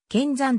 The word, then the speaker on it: 剣山: 説とがある正しくは剣山と読むが徳島県を中心に見参と呼ぶ人が多く呼び名についての論争があった 1963 年徳島